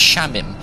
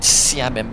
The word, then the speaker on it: Shamim: It's pronounced sha. So, it's shamim, not samim.